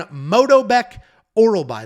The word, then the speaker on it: Myktybek Orolbai: He is taking on Myktybek Orolbai. That is how you pronounce it.